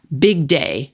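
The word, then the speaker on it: Bygdøy: There's also a neighborhood that is pronounced Big Day. It's spelled B Y G D O Y with the Y sounds like I in big.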